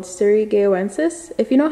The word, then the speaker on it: surigaoensis: favorite hoyas it's a large leaf hoya called surigaonsis if you know how to pronounce it properly feel free to let me